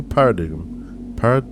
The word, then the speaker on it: paradigm: establishment of a new paradigm. How do you say that? Paradigm. Oh, the G is silent.